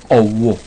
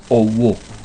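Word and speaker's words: ọwọ̀: Owo. Eso es la mano entera. Owo. O, punto debajo, W, O, punto debajo, acento grave.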